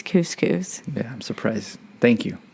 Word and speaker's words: couscous: have educated somebody today where's the cuscus it's couscous yeah i'm surprised thank